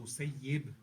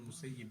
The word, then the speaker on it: Musayyib: The name is Sa'id ibn Musayyib. You don't say Musayyib. He said, Sayyab Allahu man sayyabani. Sa'id ibn Musayyib. He said, Sayyab Allahu man sayyabani. So you always pronounce it as Sa'id ibn Musayyib.